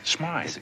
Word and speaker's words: Smythe: Look, Mr. Smith. Smythe. It is pronounced Smythe.